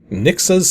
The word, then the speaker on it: Rnixa: With today's game being Nixa's Secret 2, which yes, the R is silent, and no, there's technically no Nixa's Secret 1.